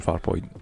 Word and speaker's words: Farpoint: It's Farpoint, not Farpoint. Farpoint. Not like far, comma, point. It's Farpoint. It's not Farpoint.